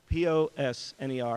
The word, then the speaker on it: Posner: sorry about that sorry POS NER and it's pronounced Posner thank you our next